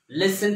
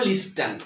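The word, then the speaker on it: listen: মি অনেকে এটা দেখো লিস্টেন এটা লিস্টেন কেন বলবো কারণ অ্যাশের পরে টি তারপরে ই থাকলে টির উচ্চারণ হয় না এটা বুঝতে হবে তোমাকে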